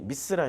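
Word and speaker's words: מצרים: 얻는 나라죠 이집트 줘 이집트의 히브리어 발음이 미쓰라 입니다 루디 만 앞 인간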